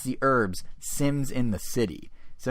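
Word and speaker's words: The Urbz: which by the way it's not just called the herbs spelled with a Z it's the herbs Sims in the city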